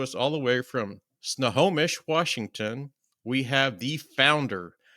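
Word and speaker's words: Snohomish: But coming to us all the way from Snomish, Washington, we have the founder of Kula Cloth, Anastasia.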